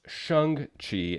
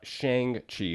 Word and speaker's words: Shang-Chi: For those of you who didn't know, it's actually pronounced Shung Chi and not Shang Chi, which is why I'm saying Shung Chi.